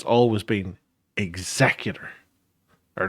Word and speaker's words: Executor: always thought it was called the Executor because it was Vader's flagship, and he executed people.